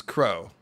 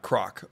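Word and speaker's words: Krog: Sorry to be stickler, but my name is pronounced and means crow, not croc. Oh, I would have said crog, but oh, it's crow. Yeah, I would not have known to pronounce K-R-O-G like crow.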